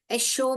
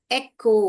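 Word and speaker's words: echo: Word याद है आपको ए कचो नहीं है एशो भी नहीं है ये अगर च डाल के पढ़ेंगे तो एचो हो जाएगा श डाल के पढ़ेंगे तो एशो हो जाएगा अभी इसको एकको यह वाला क ही हमको पढ़ना है।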